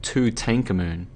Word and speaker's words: Tutankhamun: He pronounced it Tutankhamun, so he had the emphasis on the second syllable.